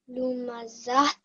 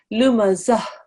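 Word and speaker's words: لمزة: Okay, the ta marbuta will become a ha sakin. Lumazat. Okay, there is no ta sound at the end when you do a waqf. The ta marbuta becomes a ha sakin, so it will be read like this, darling. Lumazah.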